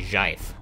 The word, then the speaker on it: GIF: Is it GIF or JIF? Hold on, let me juggle it. And thus the GIF wars have begun. Of course, the correct pronunciation is obviously JIF.